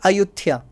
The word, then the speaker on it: Ayutthaya: The local pronunciation is Ayutthaya.